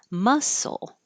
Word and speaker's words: muscle: the T intercost muscle whether it's spelled this way or this way they sound the same musle muscle and muscular I thought I